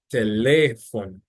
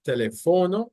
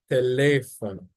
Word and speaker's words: teléfono: But it is not pronounced like that because the accent is actually over the second E in the word. So it's not telephone, but it's teléfono.